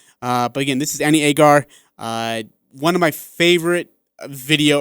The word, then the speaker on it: Agar: I was like, hey, how do you say her name? She's like, oh, it's Agar.